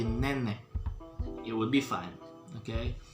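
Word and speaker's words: nenek: e k and again you don't need to spell the k all right so just say name it would be fine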